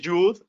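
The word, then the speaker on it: יוד: Y les repito, si alguien les dice que es Yud, pues no se trata de pelear. La pronunciación moderna de los cabalistas modernos es Yud. Puede ser Yud, puede ser Yod, puede ser Chet o puede ser Het.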